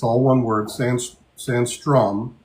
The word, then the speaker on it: Sandstrom: Sandstrom, not sandstorm, Sandstrom.